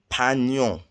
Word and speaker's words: peignons: Nous peignons. It's not N with a tilde like in Spanish. It's GN.